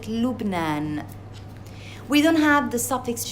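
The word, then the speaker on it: لبنان: For example, Lebanon, we pronounce it Lubnan.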